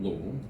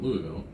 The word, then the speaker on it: Louisville: louisville and louisville and people who live here called lowell people who came here call it louisville and the people who